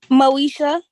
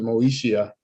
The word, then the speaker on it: Moeshia: your first name man Moesha okay all right it had an eye in it so I didn't know if you pronounced the moeshia so no that's m-o-e-s-h-i-a m-i-t-c-h-e-l-l Miss